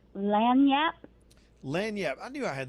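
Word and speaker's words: lagniappe: I remember I mispronounced it for years, and you ever do that with something that gets stuck in your head, and and then somebody told me it was lanyap, and I still couldn't remember it.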